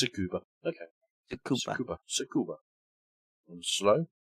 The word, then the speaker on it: Tsukuba: It's Tsukuba. Okay. Tsukuba. And slow. Tsukuba.